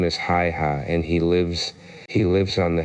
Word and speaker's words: Haigha: His name is Hi-Ha." He pronounced it so as to rhyme with mayor.